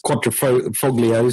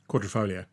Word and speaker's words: Quadrifoglio: rust free it was I can't say the word properly its Quadrifoglio so how would you say it Quadrifoglio yeah people wrote in to me and said are you saying it wrong a tiny little G in there that an Italian can get away with leaving in and everybody else sounds wrong I know so